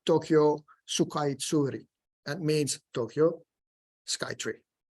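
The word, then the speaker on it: 東京スカイツリー: get the kanji and the katakana, which is pronounced Tokyo Sukaitsuri.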